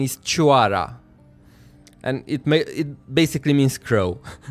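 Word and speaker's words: Cioara: And even in the game, they pronounce it Chiora, and I even saw other people pronounce it at Chiora. But that is a Romanian word, in fact, and the correct pronunciation is Chuara.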